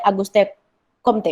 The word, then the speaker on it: Auguste Comte: Karena sampai saat itu ilmu-ilmu sosial kemanusiaan masih didominasi oleh positivisme yang dikembangkan oleh Auguste Comte, bacanya gitu ya, yaitu menggunakan metode ilmu-ilmu alam untuk mengetahui manusia dan masyarakat.